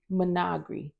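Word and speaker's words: Menagerie: I wrote the pronunciation because I knew I was going to mess it up, y'all. Menagri.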